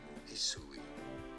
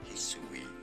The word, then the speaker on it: Hisui: Hisui. Hisui is how this region is to be said.